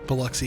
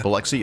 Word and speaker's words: Biloxi: So on the night of her death, she she was in the city of Biloxi, I think I'm pronouncing that right, Mississippi? Biloxi, yeah. Biloxi, okay.